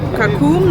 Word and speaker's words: Kakum: Tino for yes we at kakum National Park is so always pronounce it kakum mhm mhm